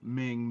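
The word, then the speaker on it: Meng: Uh, you know, who remembers Haku, who remembers Mang. U, uh, you know, Ming, Mang, whatever. You know, Mang, that's Mang is right. You you said it right the first time whenever he was in WCW.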